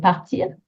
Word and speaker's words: part: I hope you can hear part and pas being a little bit shorter, both with silent letters at the end, a silent S, a silent T, quite short.